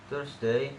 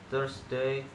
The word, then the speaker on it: Thursday: First, Thursday and throughout. This word is pronounced with a T sound. Thursday or through. It should use the voiceless dental fricative, making it Thursday or through, throughout.